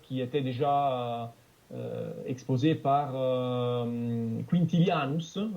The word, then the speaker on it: Quintilianus: Et c'est un concept d'ailleurs qui était déjà exposé par Quintilianus, moi je le prononce à la latine.